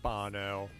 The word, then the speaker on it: Bono: Yes, I know, it's pronounced Bono.